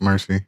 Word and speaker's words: Mercii: I made myself Mercy uh that's how it's pronounced Mercy um and it is taken from derived from